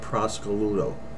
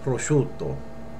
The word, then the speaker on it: prosciutto: market, and she said, give me a half a pound of prosciutto. You will never say that. You'll say prosciutto, okay?